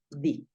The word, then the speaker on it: the: te voy a comentar que este d lo puedes puedes pronunciar así lo puedes pronunciar da De hecho yo tiendo a pronunciarlo más da y en algunos casos obligatorios lo vas a pronunciar di listo en algunos casos